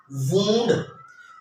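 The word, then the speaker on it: wound: अच्छा, तो जो मेरा नेक्स्ट वर्ड है वो है जी वूंड, वूंड, हम वाउंड कहते हैं जख्म, ये जो जख्म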